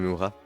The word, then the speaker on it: Murat: Or normally it would be mute T, so Monsieur Murat.